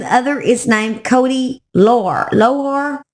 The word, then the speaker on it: Lohr: One goes by the name Little Rhyme, and the other is named Cody Lohr. Lohr? I don't know how you say it exactly. It's Lohrer.